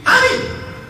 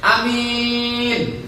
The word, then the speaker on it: amin: Amin. Kalau pendek semuanya amin, artinya amankanlah. Amankanlah. Maka dia pun masuk penjara, diamankan oleh polisi. Amankanlah. A-nya pendek. Amin, jujur.